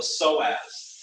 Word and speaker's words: psoas: One is called the psoas, and we spell it P-S-O-A-S, psoas, P-S-O-A-S. And that's what we call a hip flexor.